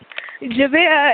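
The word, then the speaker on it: Jadeayah: Jada. It's spelled J A D E A Y A H.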